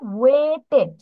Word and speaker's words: waited: এটার প্রোনাউন্সিয়েশন হবে ওয়েটেড, ওয়েটেড। waited, এই তো, গুড, এখন হয়েছে।